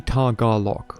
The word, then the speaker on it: Tagalog: I see Tagalog, right? It's like 3 syllables. Tagalog. I don't know where the like emphasis is supposed to be.